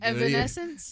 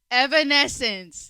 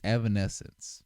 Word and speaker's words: Evanescence: right evence evanesence yeah you didn't even say it right why did you say senses BR we're not we're not smelling here or nothing bro I said evanesence Evanescence Evanescence there you go see I said that